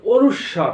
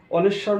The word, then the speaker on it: অনুস্বার: এটা কি হবে, অনেশ্বর নয়, এখন থেকে আর অনেশ্বর নয়, অনুস্বর অথবা অনুস্বার, অনুস্বর বা অনুস্বার।